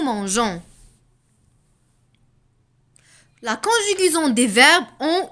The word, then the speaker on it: mangeons: dire nous manque quand on ajoute un e pour prononcer gens nous mangeons la conjugaison des verbes